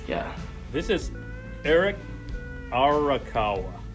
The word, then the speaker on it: Arakawa: to get it right yeah this is eric arakawa r okay right yeah well that's how i pronounced it anyway so okay anyway and now